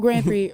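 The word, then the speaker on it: Grand Prix: that's how trust me go ahead okay well Grand Pre wrestling and that's is going to be happening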